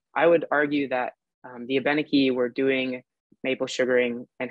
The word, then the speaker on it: Abenaki: So you might notice that I use the pronunciation Abenaki. Some people say Abenaki, more in Vermont and New Hampshire. It basically depends on where you are from. My family is Quebecois, so I tend to use the pronunciation Abenaki, but it's tomato, tomato.